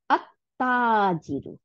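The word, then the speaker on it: التاجر: তাহলে লাম আর তা মিলে গিয়ে তা হয়ে যাবে কিন্তু। হ্যাঁ, এটাকে বড় করি আমি, এই যে, হ্যাঁ, এই যে দেখেন তা, তাহলে কি হলো, এই লামটা তার সাথে যুক্ত হয়ে দুইটা তা বানাই দিচ্ছে। হ্যাঁ, বানাই দিয়ে তার উপরে সাদ্দা দিয়েছে, তাহলে আত্তাজিরু।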